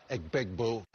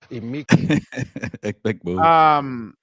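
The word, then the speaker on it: Emeka Egbuka: Emeka Egbegboo. Egbegboo. But Egbegboo.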